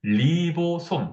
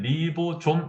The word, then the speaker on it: 리보솜: 하나 중요한 것이 뭐다 바로 리보솜 또는 리보좀 이라고 읽는 기관이에요 얘는 뭔 역할을 하냐